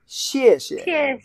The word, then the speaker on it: 谢谢: It's a fourth tone. 谢谢. If you said it very formally, slow, pretty long, it's 谢谢。 But in daily life, the second could be weaker. 谢谢. Yeah, emphasize the first one. 谢谢. Yeah. 谢谢。 Thank you. 谢谢. Yeah. If you're really in a very formal situation, you want to say 谢谢. Yeah. All both go fourth tone.